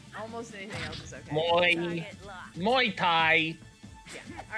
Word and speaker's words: Muay Thai: you seem to have a problem with my pronunciation. Muay Thai. Muay? Yes. Muay Thai.